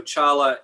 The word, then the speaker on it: Tsala: yes, yeah, let me just say, so Chala is spelled Tsala.